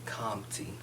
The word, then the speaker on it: Campti: Well, everybody that don't know, I'm from Campti, or how I like to pronounce it, Campti.